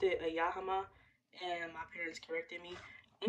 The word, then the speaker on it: Yamaha: I pronounced it a Yamaha, and my parents corrected me. Let me go check. Hold on, y'all. All right, y'all, I'm back. It is right. It's a Yamaha, so I got it right.